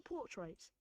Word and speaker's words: portraits: Accent on the first syllable, pool. There's a long ooh sound. Portraits. You don't say portraits, but portraits. Without pronouncing the r.